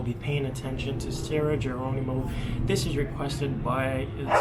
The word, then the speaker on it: Geronimo: I was told that it's Geronimo, so Spanish pronunciation.